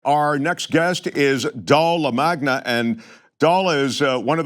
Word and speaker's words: LaMagna: It's LaMagna rhymes with the lasagna.